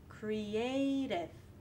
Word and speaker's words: creative: For example, creative, A, creative. You also have a secondary stress, cre, creative, and a weak stress, dev, creative.